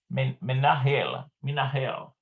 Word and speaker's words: מנהל: Menahel. It's almost like hell, kind of like menahel.